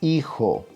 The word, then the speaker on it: hijo: For instance, you says hijo, right? The H is there in the spelling, but the sound is not there because H is soundless.